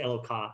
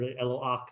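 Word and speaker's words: אלוה: Elo, I know people say eloka, or eloach is probably the better way to say it. Right, well, because it's the way you pronounce it in Hebrew.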